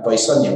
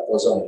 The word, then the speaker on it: Poisson: Ya, ini Jerman ini bukan Poisson ya, walaupun tulisannya Poisson ya, tapi kita bacanya Poisson karena ini adalah bahasa Jerman.